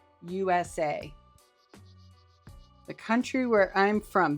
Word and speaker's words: USA: And I said, "No, you have to say each letter. It's not a word. You can't say USA. You have to say us a."